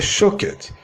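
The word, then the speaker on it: שוקד: No hebraico, a palavra amendoeira se pronuncia shaked, e a palavra velo, que é o mesmo que vigiar, se pronuncia shoked.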